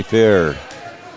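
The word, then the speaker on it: Fehr: And a rebound underneath by Maddie Fair. It's spelled F-E-H-R, but it's pronounced Fair is what we were told.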